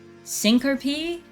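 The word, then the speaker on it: syncope: Um, syncop is pronounced syn. Sink pee.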